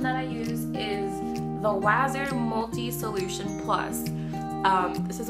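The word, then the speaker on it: Wasser: The contact cleaning solution that I use is the Waser Multi Solution Plus. This is what it looks like. I'm pretty sure it's pronounced Waser, W-A-S-S-E-R, or Waser. I think it's Waser, which is a really extremely weird name.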